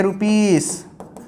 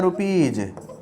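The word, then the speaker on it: rupees: क्या होता है तो लोग बच्चे कहेंगे रुपीस और यह हो जाएगा गलत इसे कहा जाता है रुपीज और रुपीज कहा गया ज एस मतलब तब तो यहां 100 होता है।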